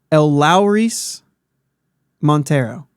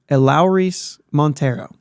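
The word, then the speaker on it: Elehuris Montero: I'm reading the pronunciation on Baseball Reference. Eleuris Montero. Eleuris. Eleuris Montero.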